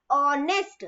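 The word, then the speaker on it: honest: letter कौन सा है तो वर्ड को बोल के देखो ऑनेस्ट तो हमने तो एच बोला ही नहीं है ना तो एच जो है वो साइलेंट है अगला क्वेश्चन है करेक्ट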